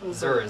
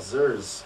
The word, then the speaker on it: Zers: I'll be the Zers? Zers, I yep. thought it was Zers. Nope. Zers. Everyone makes that mistake.